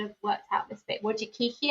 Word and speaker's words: Wojcicki: Wojcicki, I think is how you pronounce it.